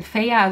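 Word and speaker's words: Feyre: hier wieder unsere protagonistin feier sie wird feiere geschrieben und stockfehler ausgesprochen und damit fehler ist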